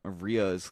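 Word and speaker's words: rhea: meet in the middle Ria's kind of is a shorter kind of ostrich what's it pronounced or how's it spelled r h e like R like rear Ripley I'll take you I'll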